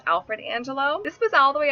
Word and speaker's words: Angelo: My first Angel or Angel alternative is Angelo. Angelo is the Italian word for angel, and it can also be pronounced Angelo for the Spanish speakers.